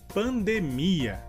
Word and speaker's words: pandemia: E a diferença seria que em espanhol a sílaba mais forte tanto na palavra epidemia e pandemia seria de. E em português, a sílaba mais forte tanto em epidemia como em pandemia seria mi.